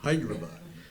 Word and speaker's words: Hyderabad: Said it right, Hyderabad.